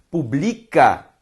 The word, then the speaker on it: publica: Publica, paroxítona. Pública, proparoxítona.